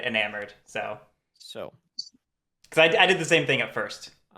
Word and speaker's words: eNamorD: Beckett, I actually did ask how I was supposed to pronounce it, and they said eNamorD.